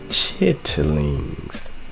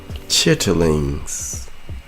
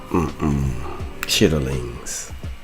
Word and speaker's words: chitterlings: Uh chitlings. Chitterlings. Uh chitterlings. That's how you That's how you pronounce it.